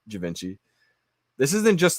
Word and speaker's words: Givenchy: And not only just any Givenchy, because that's the correct way to say it, but I like to say Givenchy.